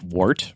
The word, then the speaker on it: wort: Is it wort or wort? So I have heard it pronounced both ways. Okay. Most of the brewers I hang out with call it wort, but I have no idea if that's the correct pronunciation.